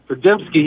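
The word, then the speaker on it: Podziemski: Pajemski, yeah.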